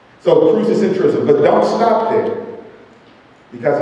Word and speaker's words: crucicentrism: And I'm gonna have my son spell that because he just looked up at me. C-R-U-C-I-C-E-N-T-R-I-C-I-S-M, crucicentrism.